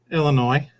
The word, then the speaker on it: Illinois: Illinois. So you don't put an S on the end of it. No. Thank God. No. A lot of people say it with an S on the end.